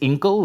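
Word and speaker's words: Incal: so many ways but wikipedia says it's inkle like in bottle which doesn't quite make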